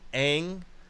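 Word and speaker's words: Aang: also said that he wants to buff out Ang and that's how you pronounce it you can look at the cartoon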